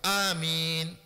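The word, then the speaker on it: آمين: Premier, quoi nous vient dire, crier à haute voix, malgré qu'il nous vient avec Hadith là, Et deuxième prononciation, c'est premier A, 10 harakat, deuxième mine, 4 harakat. Amin.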